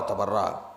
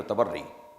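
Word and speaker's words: تبرّی: و نہی عن المنکر، تولا و تبرع، جسے صحیح تلفظ میں کہیں گے تولی و تبری۔ جی صحیح تلفظ بھی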